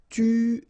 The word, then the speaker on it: tuer: Tuer. Alright, remember, U is really pronounced like U, so it's not OU, but it's U, okay? Tuer, tuer.